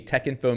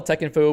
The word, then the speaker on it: Texinfo: to be useful spell tech info with a capital t uh this first syllable is pronounced like spec not hex the odd pronunciation is